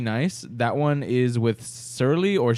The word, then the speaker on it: Surly: That one is with Surly or Shirley. Don't call me Shirley. It's spelled Surly Brewing Company, and that's a collaboration too.